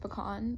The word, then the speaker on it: pecan: If you're wondering why I pronounce it pecan, it's because if you remember from New Orleans Piano and Avocado Toast, my grandfather is from Louisiana, and apparently that is how they pronounce it down on the bayou.